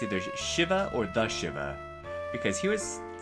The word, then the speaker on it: Shivah: Anyway, yeah, I'm pronouncing it Shivah. Those of us Final Fantasy fans might be tempted to pronounce it Shiva. But no, this is a Yiddish word, and we'll learn more about that in a bit.